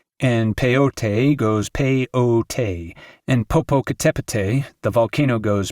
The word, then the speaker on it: Popocatépetl: And peyote goes peyote, and Popocatépetl, the volcano, goes Popocatépetl.